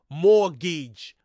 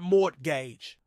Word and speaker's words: mortgage: British people but especially Americans morgage the correct pronunciation is morage not mortgage the word in question is derived from the